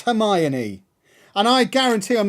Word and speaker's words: Hermione: The amount of times you see, like the first Harry Potter movie I saw, fascinated that they called her Hermione, not Hermione. That's how it's spelled.